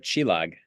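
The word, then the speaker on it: csillag: she used for you that I'll let you pronounce so I'm not going to. Yeah. Uh Chilog, uh which means star in Hungarian.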